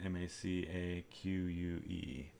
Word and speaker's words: macaque: macaw although it's it looks like macaque maybe that's how you say it m-a-c-a-q-u-e macaque I think that is actually how you say it my car would be like a parrot so we finish our